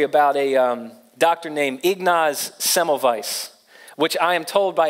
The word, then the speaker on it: Semmelweis: read this story about a doctor named Ignasi Semmelweis which I am told by a German doctor